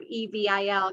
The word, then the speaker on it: Evel: He found something that was kind of this dark side that that rhymed with his name, although he changed it to, instead of E V I L, to E V E L, like his last name is spelled.